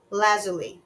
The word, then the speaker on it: lapis lazuli: Lazuli. I'm sorry. I think I pronounced it wrong. Lazuli is how you pronounce it.